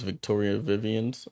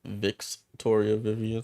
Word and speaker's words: Victoria Vivians: name on here um name is Victoria Vivian's not Vic's Toria Vivian so I'll fix that